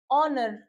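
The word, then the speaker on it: honour: जब एच हमारा साइलेंट हो जाएगा तो हम इसको क्या पढ़ेंगे? आवर ऑनर ऑनेस्ट ऑब ठीक है जब यहां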